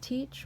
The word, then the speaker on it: TEACCH: And the one I chose was TEACH, which is spelled TEACCH.